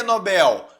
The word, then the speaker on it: Nobel: tava certo é Nobel Nobel muito bem porque Nobel porque não tem acento porque não tem acento